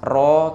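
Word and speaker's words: ρ: ya massa jenis larutan dilambangkan dengan roh bacanya roh kayak pala itu ya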